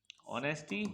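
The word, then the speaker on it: honesty: एनई एस टी वाई लेकिन दोस्तों यहां पर एच साइलेंट होता है और इसे पढ़ा नहीं जाता है सो यहां से हम इसको पढ़ते हैं और इसे कहते हैं नेस्टी ऑनेस्टी ए एनडी एंड एस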